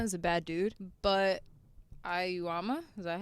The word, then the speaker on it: Aoyama: I think Yoshikama is a bad dude, but Ayuama, is that how you pronounce it correctly? Aoyama.